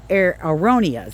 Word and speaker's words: aronias: We love that our 3 bird's nest spruce, our aronias, that's how you say it.